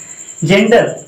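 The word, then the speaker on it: gender: तो जेंडर में क्या आ रहा है, जी के बाद ई आ रहा है, इसीलिए क्या करेंगे हम, जी के बाद इसका उच्चारण जा करेंगे।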